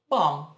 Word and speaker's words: bomb: Bomb não pronuncia o B no final. Bomb.